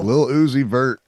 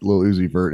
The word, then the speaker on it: Lil Uzi Vert: Lil Uzi Vert.